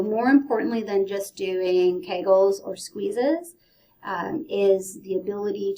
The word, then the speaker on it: Kegel: I've heard Kegel, Kugel, like all sorts of different ways to say his name. But this is Kegel.